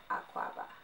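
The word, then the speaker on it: akwaaba: No, just akwaba, y'all. If y'all don't know what that means, it means welcome, entry, I'm Ganyan. That's where it's from. That's how you say it. Welcome, akwaba.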